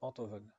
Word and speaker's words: Enthoven: c'était avec Frédéric Tadei, où il précisait que son nom se prononce Enthoven, et qu'il est professeur de philosophie.